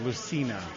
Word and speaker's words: Lucina: So, yeah, Lucina, the soft C.